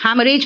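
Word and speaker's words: haemorrhage: Exhaust and हैमरेज, हैमरेज में second H silent है, देख रहे हो, H साइलेंट है।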